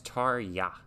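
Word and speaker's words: Tarja: pronounce uh her name is it tarya um yeah it's tar yah all right to arya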